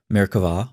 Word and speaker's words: Merkavah: of Jewish mysticism called Merkavah mysticism. Frequently spelled with a B but pronounced with a V, Merkavah, or throne mysticism, refers